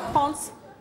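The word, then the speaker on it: Frantz: Comme Litz ou Franz? Et non pas France prononcé à Franz. l'anglaise, hein, F-R-A-N-T-Z, Franz, comme le oui. compositeur de musique.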